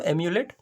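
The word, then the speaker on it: emulate: Okay, देखिए यहाँ पे कॉपी करना समझिए, तो यहाँ पे समझिएगा प्रोनाउंसिएशन, इसको क्या प्रोनाउंस करें दोस्तों, एम्यूलेट, part of speech verb, imitate, copy और मिरर।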